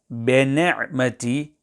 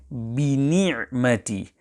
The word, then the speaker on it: بِنِعْمَةِ: When reciting this verse, each of the kasrah on verse number 11 must be pronounced fully and flatly. Hence, to recite بِنِعْمَةِ will be incorrect. The correct pronunciation is بِنِعْمَةِ.